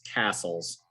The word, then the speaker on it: Castles: The proper pronunciation for the last name is Castles, which would be like a big stone house multiple, you know? So it's Castles.